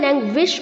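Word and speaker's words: languish: lazing लैंग्वेज लैंग्वेज लैंग्वेज यहां पर जो बच्चों लैंग में जी के आगे यू है उसे हमें डब्लू की तरह प्रोनाउंस करना है विश जैसे हम विश मांगते हैं लैंग्वेज नहीं बोलना है लैंग्विश बोलना है ओके लैंग्वेज लैंग्विश्ड लैंग्विश्ड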